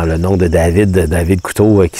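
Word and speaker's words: Couto: Parce que En plus, j'ai fait une erreur aussi dans le nom de David, David Couteau, qui s'écrit C-O-U-T-O.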